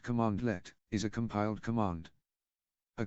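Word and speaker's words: cmdlet: such as PS version a condort pronounced commandlet is a compiled command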